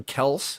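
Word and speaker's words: Kelce: Didn't the Kelseys say a couple of years ago that it's actually Kels? Their dad goes by Kels, and they're just like, at this point, just Kelsey's fine.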